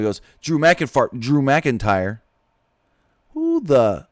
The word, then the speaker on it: McIntyre: what he said Drew mckin fart how I know I'm not the best man with words but how do you say drew mcken fart instead of Drew McIntyre that's not even close